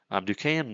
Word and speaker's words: Duquesne: Even though that doesn't look like fucking Duquesne, I had to learn how to pronounce that, whatever.